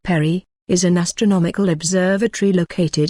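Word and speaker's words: PARI: continuity of government for the continuity of operations plan 25-pair I risk and astronomical Research Institute pronounced Perry is an astronomical observatory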